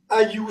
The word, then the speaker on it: Ayoo: Ayu, ça s'écrit Ayoo, parce que c'est la forme phonétique anglaise, les deux O se prononcent en OU.